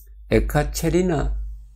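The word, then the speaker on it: Екатерина: 그런데 요새는 현지 발음으로 하니까 에카체리나 대제가 되겠습니다. 에카체리나. 러시아 말로는 에카체리나, 영어로는 캐서린 대제라고 합니다.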